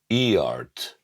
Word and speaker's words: Eart: I got this from a company called Eart. No, not Eart. And although I'm not a native English speaker, I'm pretty sure it's not pronounced Eart because it's spelled E-A-R-T.